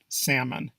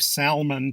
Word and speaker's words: salmon: many of us believe Salman to be the correct way it turns out that the L is silent and the mon part